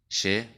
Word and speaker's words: che: de las del español se pronuncia como del inglés ejemplos Che yo chipa chipa ya que cuidado